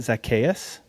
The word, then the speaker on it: Zacchaeus: So, Zach, correct me if I'm wrong, but your full name is it Zacchaeus? Is that how you say it? Zacchaeus.